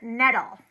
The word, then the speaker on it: nettle: also got a little 15% nettle, rhymes with metal.